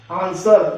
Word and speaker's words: answer: WRIT right, WRONG रोंग, ANSWER इसमें आंसर, W silent रहेगा आंसर में, SWORD सोल्ड।